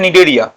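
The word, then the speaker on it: Cnidaria: এরপরে 2 নম্বর ফাইলাম হচ্ছে নিডেরিয়া। 2 নম্বর ফাইলাম হচ্ছে নিডেরিয়া। নিডেরিয়ার সিটা উচ্চারণ হয় না, আমি আগের দিনই বলেছি।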